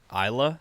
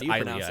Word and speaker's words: Ilia: Isla? Is that how you pronounce it? It's Ilia, I believe. Ilia? Wait, yeah. I think it's I-L-I-A? I-L-I-A, yeah. Ilia. Like Hylia, but Ilia. like...